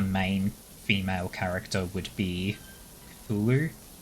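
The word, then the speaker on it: Cthulhu: write that yes it's it's written cthulu but I think it's pronounced Kulu yeah the the weird pronunciation I think is intentional because it's meant to be something that doesn't fit the human's tongue just I I looked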